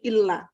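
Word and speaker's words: إلا: Illa, kalau ada kata illa, apa artinya illa? Apa Bu? Illa. Kecuali. Illa itu kecuali. Kalau ila, ke. Maka bacanya jangan salah.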